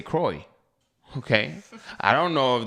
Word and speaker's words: Croix: know k i mean c r o i x i say kroy okay i don't know